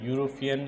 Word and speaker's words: European: European is a word and this word begins with letter E. Letter E भनेको that begins with vowel letter but its pronunciation begins with which sound? Consonant sound.